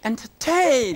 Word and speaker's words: entertain: But the stress is on the last part of it. For example, command. Command. The command. Command. Recommend. Command. Understand. Understand. The command. Command. Entertain.